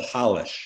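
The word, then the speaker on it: Rolls: it to him right it's actually pronounced in Brazil Hollis it's polish but they see you know it's Hollis that's his name but we'll call him Hollis because that's the correct pronunciation from what I've been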